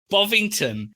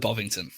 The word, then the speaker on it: Bovington: How do you say it, Ivan? I call it Bovington.